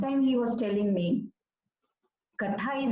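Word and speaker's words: कथा: So that time he was telling me, Katha is not just one word, and it's not just, derived from the root katha, that is to tell, to narrate, It has 2 syllables, ka and tha.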